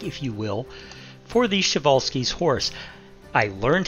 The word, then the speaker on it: Przewalski: you will for the chevalski's horse i learned how to pronounce that first word i know it's not spelled that way but that's how it's pronounced chevalsky so i'm just going